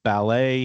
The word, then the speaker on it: ballet: Uh, so continuing, I guess, with the syllable stress thing, B- A L E T is ballet here in the United States.